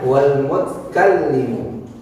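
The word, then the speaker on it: والمتكلم: Yang ke-14, Sami'unil Basiru wal mutkallimu. Di sini tulisannya wal mutakallimu, betul, tapi kita nanti bacanya wal mutkallimu. Disukunin. Kenapa disukunin? Itu untuk menyesuaikan ketukan.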